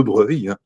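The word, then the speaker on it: Broglie: Et c'est donc le prince de Breuil donc qui s'écrit Brog hein pour ceux qui qui chercheront donc des informations.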